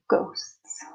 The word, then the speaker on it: ghosts: pronunciation is simple Heights ghosts has a silent H so ghosts confined spaces confined me